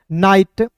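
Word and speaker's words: night: सभी को पता है नाइट ठीक है ना जी फिर देखिए दोस्त यहां पे नाइट हो गया यहां पे ना दोस्तों जी साइलेंट हो गया क्लियर टी ओ यू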